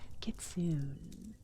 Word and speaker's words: kitsune: My monkey brain has been keeping me keep saying kitsune as kitsoon. I've heard both pronunciation pronunciations. So technically you're not wrong. Technically you're not wrong. Either way works.